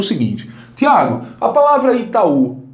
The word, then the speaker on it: Itaú: Mas olha, note que esse U não é fraco, ele é muito forte. Inclusive é a sílaba tônica. Itaú. Isso aqui é forte, bastante forte.